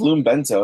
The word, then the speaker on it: LumeBento: Yeah, it's just LumeBento. It's just one word.